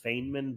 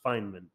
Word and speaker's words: Feynman: I was just interested in the life of Feynman um fine men yes I before I always call them Feynman but yeah I learned that it's pronounced Feynman anyway so uh yeah the I originally got